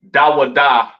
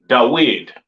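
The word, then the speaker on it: דוד: don't they don't say they don't call King David daada correctly pronounced in the ancient Hebrew they call him DD all right or the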